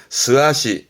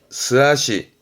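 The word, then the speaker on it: 素足: 발음은 스아시, 스아시.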